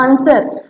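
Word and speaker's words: answer: हम लोग बोलते हैं ना आंसर, आंसर, तो क्या मूक अक्षर आ रहा है, कौन साइलेंट वर्ड है, डब्लू।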